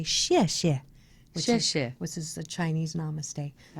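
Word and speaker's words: 谢谢: You hold the peace, put it at your heart chakra, and say xie xie.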